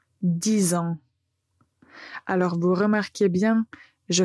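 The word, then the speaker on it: dix ans: vous allez entendre la liaison, donc les nombres 6 et 10 vont être prononcés avec un Z à la fin.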